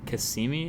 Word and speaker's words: Cassini: now yeah so the end of the Saturn Kissimmee is how you pronounce it Cassini mission where that that thing